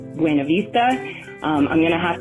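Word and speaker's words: Buena Vista: Denver trait which is correcting people when they mispronounce buav Vista I have uh been in many heated arguments with people who insist on pronouncing in it bua Vista or some variation of that but I believe that if the locals tell us that it's buav Vista then we should honor and respect that so I do but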